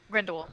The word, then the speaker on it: Grindelwald: I did finally see just saw this past weekend the Crimes of Grindelwald, the second part to Grindelwald, right? That's how it pronounced. Grindelwald, yeah.